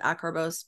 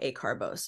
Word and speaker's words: acarbose: I've heard people pronounce it acarbose, but I was taught acarbose.